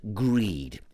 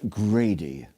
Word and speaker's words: Greed: this correctly, Lord Gilbert Greed, Senior Executive of Global Greed Financial Services. Welcome, sir. It's actually pronounced Grady, Gilbert Grady.